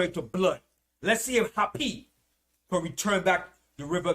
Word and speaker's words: Hapi: that was called hapi it spelled h a p i happy happy was the god